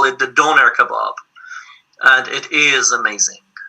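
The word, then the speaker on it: döner: In Turkey, they call it the doner kebab, and it is amazing. It is amazing. It's pronounced doner.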